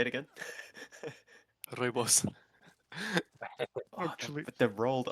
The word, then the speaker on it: Rooibos: Rooibos. Yeah. Oh, that sounds cool as fuck when you say it in proper South African. What did you I've, call I've it? been pronouncing it like Roibosh my entire, or like shitty pronunciation my entire